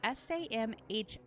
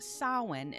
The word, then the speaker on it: Samhain: this holiday known as sauwan now it is spelled s-a-m-h-a-i-n but it's not samhain it's pronounced sawin due to the way that the m and the h go together in their language now this also translates